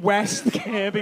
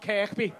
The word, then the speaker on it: West Kirby: Do you live in West Kirby? West, Kirby. West K-I-R-B-Y. Not Kirkby.